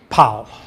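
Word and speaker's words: Pál: How do you pronounce his first name? Pal.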